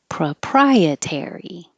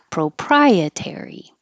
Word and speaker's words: proprietary: Proprietary. You can say pro or pra. Proprietary.